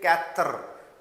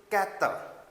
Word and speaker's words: quatre: Don't say it quatre. Don't I mean to say stretch the sound of r. Just make it really a few just it seems like that you were saying that but doesn't stretch it too much. So it should be quatre.